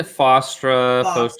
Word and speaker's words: Fostra: Yeah, Fostra. I'm not like one of those authors that really is like picky on how people pronounces the character names and stuff, but that's how I pronounce it.